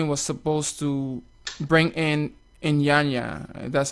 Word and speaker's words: Iyanya: Speaking of artists, recently your company was supposed to bring in IYANYA. That's how you pronounce his Yes.